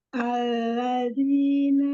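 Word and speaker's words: الذين: Alladzina ulangi alladzinya coba dibilang jangan alladzi. Alladzi alladzina coba langsung alladzina yain alladzina yatabilinuna kabairul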